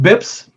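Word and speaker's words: bps: nerdy banker stuff um a basis point bips if you've ever seen the acronym pronounced out loud uh a basis point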